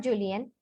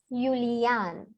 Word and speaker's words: Julian: But actually it is not Julian, it is Julian. Julian. Why? Because J is yacht for us and A is A for us.